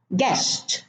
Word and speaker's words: guest: Guest, no U.